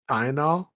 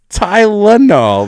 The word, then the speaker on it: Tylenol: TYNOL. WHAT? TYNOL? There's no There's no Tynol. Tylenol. There's another L word. No, red bell. He misses a syllable.